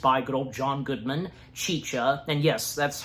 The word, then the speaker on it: Chicha: again, being voiced by good old John Goodman, Chicha, and yes, that's how her name is pronounced, Chicha.